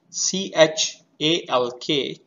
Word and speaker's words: chalk: Next, C-H-A-L-K, chalk, we are not pronouncing L.